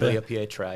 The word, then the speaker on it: Tagliapietra: Um like Lino who came here from there and big big name Lino Tagliapietra. Huge inspiration from him. Glad he said that cuz I I always mispronounce that. Tagliapietra, yeah.